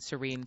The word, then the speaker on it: Serene: So Shauna spelled Shauna, and then Serene spelled like Serenity, Serene.